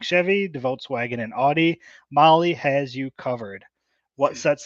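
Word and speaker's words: Mahle: of our podcast listeners Molly is spelled m ahle e I sure do love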